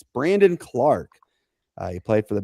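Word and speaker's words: Brandon Clarke: I said Brendan. It's Brandon Clark.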